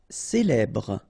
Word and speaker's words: célèbre: Célèbre. Okay, first you get this E, then here you get the E, so célèbre. Final E not really pronounced.